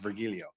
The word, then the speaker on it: Virgilio: PR okay it's virgilio I remember what she pronounced virgilio I was thought the hard G was interesting virgilio was not following